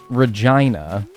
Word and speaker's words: Regina: The city that rhymes with fun, Regina.